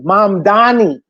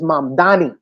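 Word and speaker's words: Mamdani: My name is the name is Mam Dani." And he made the the last mayor, I forget his name now, the white guy, the Italian man now. See, he made he made him pronounce his name correctly. Correctly. His name is M Danny because he understands the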